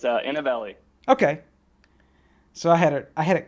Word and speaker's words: Inovelli: It's Inovelli. Okay. So I had it kind of right. So I guess I'll go ahead and introduce yourself. Sure. So I'm one of the founders of Inovelli.